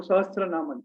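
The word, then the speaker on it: सहस्रनामन: ये सहस्र मीन्स 1000, संस्कृत में सहस्र बोले तो 1000 है ना, एंड नाम तो नाम है तो सहस्र नामन।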